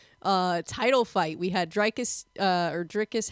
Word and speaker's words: Dricus: title fight we had draus uh or dricus how do you do you say his name dricus I say the draus like with the the the I as an a sound okay I feel like